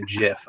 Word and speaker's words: GIF: like a GIF, or I'm sorry, a GIF. I pronounce it with the soft G, goddammit.